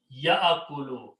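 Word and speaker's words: يأكل: So the first word is that ya'akulu. First of all, important thing is that ya, do not pronounce ya. It is ya'akulu.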